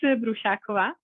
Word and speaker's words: Brusakova: information about myself so my surname which is so difficult to pronounce is brushakova so i'm i'm originally